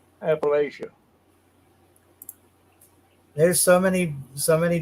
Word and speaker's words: Appalachia: here or you know Appalachia I always say always best way to to say Appalachia and and just think I'll throw an Apple at you Appalachia there's so many so